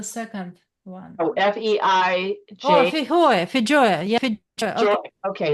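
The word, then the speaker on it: feijoa: Is that how you pronounce it? I don't get the second one. Oh, F-E-I-J. Oh, Fijoya.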